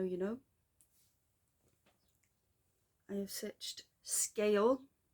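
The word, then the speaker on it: Sgaeyl: Apparently that is how you pronounce that, not Segale, as I don't know why I went with that. I think it's probably because of Welsh pronunciation, but it's pronounced Scale.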